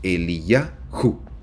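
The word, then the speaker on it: אליהו: paso Elías significa el señor es mi Dios él y yaho se pronuncia así la palabra el nombre de Elías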